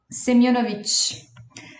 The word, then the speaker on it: Semyonovich: Gente, eu errei a pronúncia do nome dele, era isso que eu tava vendo agora. É Semyonovich.